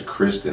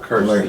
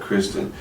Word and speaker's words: Kristen: Her first name's Kristen, actually, not Kirsten, but Kristen.